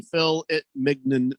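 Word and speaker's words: filet mignon: baker's cocky hen says thank you randy for saying fill it mignon uh properly thank you it's not phillip it's not how you say it baker's cocking hands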